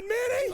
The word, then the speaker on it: Minni: I'm your cousin, Minnie! Oh, my goodness. It rhymes with Winnie! It's M-I-N-N-I! Hey!